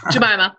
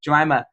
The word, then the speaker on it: Jemimah: agree with Gemini I said it wrong again jamaa yeah sorry I've been saying that wrong too long so jamaa um that it's something that needs to be